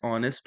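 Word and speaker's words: honest: यहाँ पे देखो है, ही is dash dash ऑनेस्ट मैन। ठीक है। तो इसको आप प्रोनाउंशिएट करते हो ऑनेस्ट करके।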